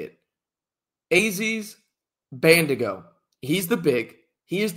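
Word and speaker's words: Bandaogo: I believe his last name is Bandigo. I believe that's how you say it. Aziz Bandigo.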